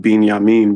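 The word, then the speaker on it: בִּנְיָמִין: Um, but another thing too is another when you guys were pronouncing Benjamin, I put in the chat it would be pronounced binyamin because it has a aik under it.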